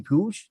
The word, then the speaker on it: Puig: their new signing, Ricky Puig. And I mentioned to you before, it's so confusing to me so he spells his name like Yasiel Puig did for the Dodgers, but you pronounce it Puig.